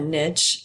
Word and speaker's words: niche: go to your niche ecological niche or niche as it's sometimes pronounced would be that you